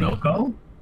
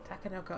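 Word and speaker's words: Takenoko: Tanoko? Oh, yeah, Sushi Go Party. Yeah. What was it? Tanoko? Is that how you say it? Takanoko.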